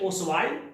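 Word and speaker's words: Ostwald: एक वैज्ञानिक है ओसवाल्ड टी को नहीं पढ़ेंगे, साइलेंट है।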